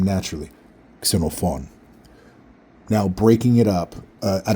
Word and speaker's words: Xenophon: Xenophon. Now breaking it up, I don't know if you heard, but the stress is on the last syllable in my name. Xenophon. Xenophon.